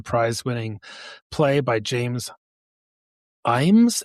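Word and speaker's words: Ijames: winning play by James Imes, it's pronounced. I was like, I looked it up. It's James. It looks like James L. James or James I. James, but it's just pronounced Imes, which is really confusing.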